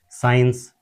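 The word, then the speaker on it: science: जैसे कि साइंस एस आई एस सी आई एन सी ई साइंस में हमारा सी साइलेंट हो जाता है।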